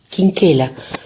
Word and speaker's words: Quinquela: El apellido del carbonero era Quinquela, según la pronunciación italiana.